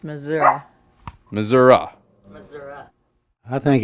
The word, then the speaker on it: Missouri: It's It's Missouri, Missouri.